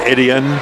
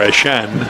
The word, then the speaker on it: Etienne: Clemson, and I know they pronounce it a little differently now on ESPN and the broadcast and the networks, and up there they'll say Etienne or Etienne. But in South Louisiana, they still say Eshun. Or Eshan would be the more correct pronunciation of it.